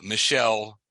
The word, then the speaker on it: Michel: Um, uh, French French philosopher and essaist, uh, Michelle is the way they pronounce it. I would say Muel, but it's Michelle Mi Hel.